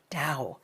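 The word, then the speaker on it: Tao: the Dow Made Easy ta AO pronounced da the Dow made easy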